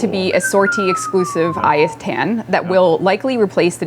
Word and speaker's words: Ayatan: The Etienne. Ayatan? Ayatan.